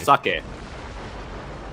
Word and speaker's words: sake: Sake. Rice wine factory. Sake. Fuck yay. It's an E. You pronounce E as E.